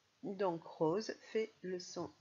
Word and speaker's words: rose: Et voilà, on remarque que notre rose fait le son Z, car le S est entre le O et le E.